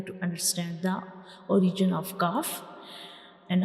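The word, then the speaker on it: ق: has no dot and this letter is a lighter letter. Calf is a lighter letter. So we don't read it with heavy sound. We will read it lightly like cough cough.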